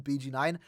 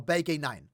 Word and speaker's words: BG9: know everyone calls him bg9 but we did find out recently his name is pronounced Bay gay9 or B9 it's a German name that's how I'm going